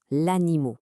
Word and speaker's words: animot: L'animau, c'est un coup de génie. Quand on le prononce, on entend animaux au pluriel.